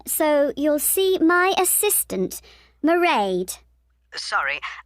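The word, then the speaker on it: Mairead: you'll see my assistant merade sorry how do you spell that it's m a i r e a d marade okay got that it's not a name i'm familiar with it's an irish name she comes from dublin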